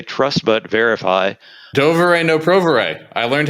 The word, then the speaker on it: Доверяй, но проверяй: You can make that rhyme if you say it in Russian. Oh. Yes, it rhymes in Russian. That's the original proverb in Russian, does rhyme, yes.